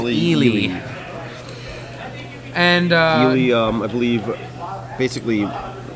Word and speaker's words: Eli Kassis: His name has been pronounced so many different ways today, but it is Ely.